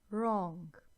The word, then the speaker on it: wrong: W is silent here, as in rap, wrong.